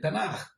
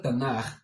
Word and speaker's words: Tanaj: Hasta ese tiempo eran los 5 primeros sefer, los 5 primeros libros del Tanaj.